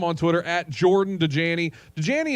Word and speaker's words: Dajani: Dajani is spelled like Dasani, but take the S away and then put a J there.